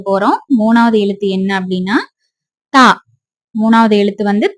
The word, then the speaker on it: ت: மேல ரெண்டு புள்ளி வச்சா தா. பா போடுற மாதிரியேதான் போடணும். ஆனா பாக்கு கீழ ஒரு புள்ளி இருக்கும். தாக்கு மேல ரெண்டு புள்ளி இருக்கும். இது எப்படி உச்சரிக்கணும் அப்படின்னா தா தா அப்படி படிக்கணும். அதாவதுடிஹச்ஏ அந்த சவுண்ட்ல வரும்டிஹஏ தா